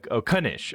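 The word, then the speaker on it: knish: Okay, pronounce kunish. Okay, gotcha. You do pronounce the K.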